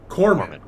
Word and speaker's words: corpsman: Is it corpsman? Is that how it's pronounced, Eric? Is the P silent? Corpsman? Yeah, corpsman. Corpsman. Okay. Just like it's Marine Corps, right? Not corpse.